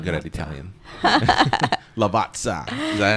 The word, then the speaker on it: Lavazza: i i i i'm not good at italian lavazza is that how it is that's perfect i'm going to say it like that it's perfect you hear that claire can you say it lavazza yeah excellent that's good yeah i gotta